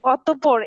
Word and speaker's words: অতঃপর: বলছি যে এটা এটা জি জি জি বলছি যে অতঃপর এটা কি না স্যার? অতঃপর, অতঃপর, পতে হ্যাঁ, অতঃপর। প দুইবার উচ্চারণ হবে, অতঃপর, অতঃপর না।